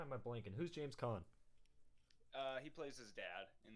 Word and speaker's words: Caan: I didn't know that was how you pronounce his last name. Yeah. Like, I was always saying can.